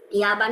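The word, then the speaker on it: اليابان: বা Japan Japan প আরবিতে নাই, সো ওরা জাপান বলে না, জিনিসটা বলে ইয়াবান হচ্ছে জাপান।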